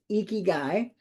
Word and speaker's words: Ikigai: If you have not, that's exactly how it's pronounced, Ikigai.